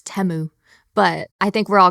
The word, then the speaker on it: Temu: Super Bowl ads tried to tell us it's Temu, but I think we're all going to call it's Temu.